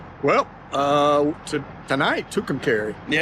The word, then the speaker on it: McAlester: They're on a long road trip heading to Well, tonight to McAlester.